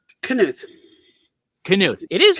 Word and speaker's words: Knuth: Knuth. See, I knew it was Knuth. I kept saying that, and somebody said that was wrong, and I was like, That's no. fine. It's the Scandinavian pronunciation, and that throws people off.